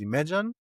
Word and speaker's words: Imagen: But today we are only pronouncing it as Imagen.